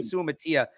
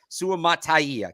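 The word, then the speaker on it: Suamataia: which I will DOA I kept forgetting where that extra syllable was because I was saying Su Matia Su mataya Kingsley Su mataya sounds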